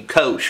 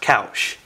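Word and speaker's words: Koush: just murdered your name I think they were naming you Kos or something but I think it's pronounced couch dude you are the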